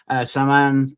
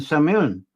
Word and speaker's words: Samhain: That's how it's pronounced to me. Samhain and Samhain.